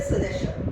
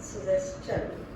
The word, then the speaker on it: suggestion: We say suggestion. No, it's wrong. Why is it so? See, when शन के पहले एस लगा होगा तो वो आपको TION को चन प्रोनाउंस करना है, सजेशन।